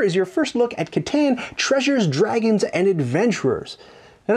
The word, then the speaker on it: Catan: And I, by the way, it's pronounced correctly Catan, but I say Catan because I have a beard.